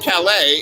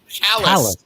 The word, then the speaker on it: Calais: And there's a town that is named after Calais, France. Except it's not pronounced Calais. It's pronounced Callous.